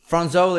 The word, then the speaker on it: Fronzoli: Jack McEwan of the Psychedelic Porn Crumpets, who's got a brand new album, Fronzoli, out November 10th. Did I pronounce that right? Fronzoli. Fronzoli is how you pronounce it. That's exactly it.